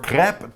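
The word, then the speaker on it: crêpes: are you familiar with Crepes or crap to give them the proper French pronunciation because they are French it says these French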